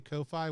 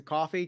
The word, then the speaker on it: Ko-fi: I'm doing a coffee, a Ko-Fi. Which one am I doing? How do we pronounce it? It's technically I say Kofi because it's spelled Kofi, but it's a coffee because it's like a coffee.